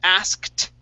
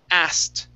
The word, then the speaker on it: asked: Okay, so instead of saying asked, okay, skip over that K. Okay, so treat the K as silent when you have an ED at the end. Yeah. Okay, and the word is asked.